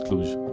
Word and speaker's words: Cluj: do that so um everyone says also the u is plain you not like moon clutch i hope it's cluj uh and rubenstein writes